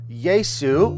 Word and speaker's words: Jesu: It goes from Yesu to Yesu. Oh, it's the same word, Yesu, right? Because the J makes a Y sound.